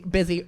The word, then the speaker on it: Busy: It's Busy Phillips, who for some reason her name is not pronounced Bussy, but I'm gonna let that slide.